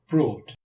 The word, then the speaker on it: brought: In the past simple, GH is silent.